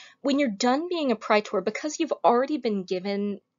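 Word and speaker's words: praetor: fewer people serving the pry tour here sometimes you'll hear british people pronouncing this pre-tour pre-tour both are okay pry tour is better pritor is a judicial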